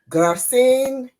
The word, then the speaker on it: Gracienne: Today, we have the opportunity to meet a dynamic woman, and her name is Gracienne John Pierre.